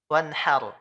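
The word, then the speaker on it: وَانْحَرْ: Fasalli li rabbika wanhar. Haknya besar. Malah harusnya kan haknya kecil, Pak. Wanhar.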